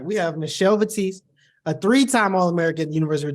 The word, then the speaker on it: Michelle Vitesse: excited for our Our Guest today we have Michelle batis is that right it's Michelle yeah that's the correct pronunciation good job good job I should have